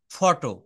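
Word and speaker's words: photo: ফটো। পি এইচ ওটি ও এটা উচ্চারণটা হবে ফটো।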